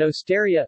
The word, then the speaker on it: osteria: An osteria, Italian pronunciation, Osteria, plural Osteri, in Italy was originally a place serving wine and simple food.